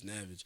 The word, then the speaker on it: Navig: Like if you just flip the name around backwards, but flip the A and the I and just pronounce Navig.